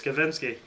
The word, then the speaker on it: Kavinsky: I said his name wrong 1,000 times in that review. It's Kavinsky.